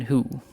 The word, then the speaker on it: Hu: Okay, and then we have Black Knight Captain Who. We're going with Who, that's the pronunciation.